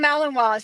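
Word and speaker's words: Malinois: Ben Ben Bacon Bits asked um do maligators I guess it's pronounced melon meloninois. Oh yeah, they're called malininois.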